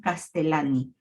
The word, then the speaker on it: Castellani: Aquí solamente me resta decirles que cuando sea una L, una doble L, se pronuncia como solamente una, ¿no? Castellani.